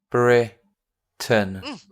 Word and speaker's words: Britain: Even though it looks like Tain, we pronounce it Tun.